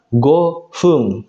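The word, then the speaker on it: 五分: Kemudian kalau kanji angka 5 ditambah kanji menit, nah yang ini angka 5 minasang, dia akan dibaca gofung pakai F.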